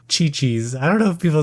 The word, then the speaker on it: Qiqi: The character is Chi-Chi, which is spelled Q-I-Q-I, so it's Kiki kind of, but they say Chi-Chi.